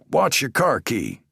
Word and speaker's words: Bjukowski: Okay, Mr. uh Bjukowski, pronounced like watch your car key.